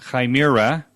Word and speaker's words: Chimera: So I saw an article that you wrote this month called the Chimera. That's how I learned from you how to pronounce it.